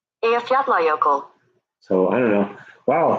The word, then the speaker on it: Eyjafjallajökull: That, because I've never been able to pronounce it, but this is how it's pronounced according to Google. Eyjafjallajökull. Eyjafjallajökull. Eyjafjallajökull.